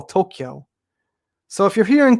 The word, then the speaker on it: Tokyo: something you know yeah see people hear toca tokyo there's a k sound i don't say i don't say the a at all tokyo so if you're here